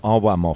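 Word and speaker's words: Arłamów: o w RW of it could be ar vof it depends if you say VJ or vuj so we're in we'll call it arov for the sake of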